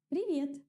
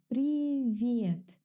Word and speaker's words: Привет: Pay attention to the pronunciation. Привет. The sound that the letter V gives me is a little bit soft. V. V. To pronounce a softer V, start with the normal V. V. And now Raise your tongue a little bit towards the hard palate.